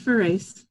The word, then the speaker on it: Farace: It's Farace.